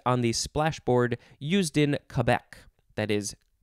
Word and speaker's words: Quebec: the splashboard used in Quebec. That is, I would normally say Quebec, but I think it's officially pronounced Quebec.